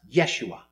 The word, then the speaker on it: Yeshua: The original word in Aramaic, Jesus name is pronounced Yeshua, like Joshua. And Yeshua, that name means God saves.